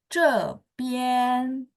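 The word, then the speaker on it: 这边: 边， Ya, nada 1. Jadi tidak naik. Nadanya datar ya. Boleh sekali lagi. Cepian.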